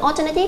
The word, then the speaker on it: alternative: Với từ alternative cho âm cái từ A chúng ta sẽ đọc âm nguyên âm A chúng ta đọc là O.